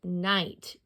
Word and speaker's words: night: And remember, the GH, when it's in the middle, is silent, like in the word night. You do not hear the GH.